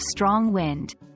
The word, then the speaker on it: strong wind: Repeat after me, strong wind. Notice the stress is on the first word, strong.